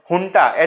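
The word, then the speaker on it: junta: understanding this topic under it is written as j u n ta but like we pronounce it as hun h u n ta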